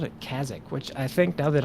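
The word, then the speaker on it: Kazzak: thought I called it Kazakh which I think now that I think about it is a uh vanilla World boss we called it Kazakh like rhymes with a shock on the brain I don't know what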